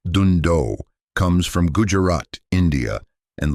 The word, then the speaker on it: Dhandho: The word Dhandho, pronounced "doon-doh", comes from Gujarat, India, and loosely translates to endeavors that create wealth.